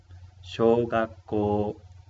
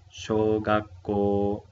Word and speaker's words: 小学校: Shogakko. Shogakko, ko largo, ¿sí? Shou largo, ko largo.